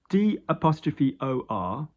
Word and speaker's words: d'or: D''OR is d'or, which means like gold, of gold.